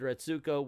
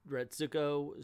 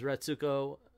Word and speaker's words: Retsuko: It goes on to say Retsuko stows away at a local karaoke shop, takes her microphone out of her purse, and shakes the place with covers of metal songs as Restuko, excuse me, I've been saying it wrong, discovers